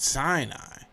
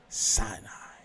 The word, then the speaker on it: Sinai: So maybe the story was changed to, Mount Sinai, when really it was a mound of sin, meaning the moon god sin, and it was the mound of the moon god sin. Pronounce I. So you have Sinai.